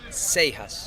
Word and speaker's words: Seijas: the broadcast, how do you pronounce your name? Spanish, Seijas. The perfect way, the pronunciation, correct way. Yeah, I can get away with Seijas, which is you pronounce a J in English, but the funny one is Seijas with a I and with an A, and it's not an A. So yeah, Seijas or Seijas is fine.